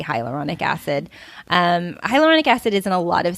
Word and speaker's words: hyaluronic: knows what i'm talking about because i can't pronounce it hyaluronic yeah that's it but just hyaluronic hyaluronic there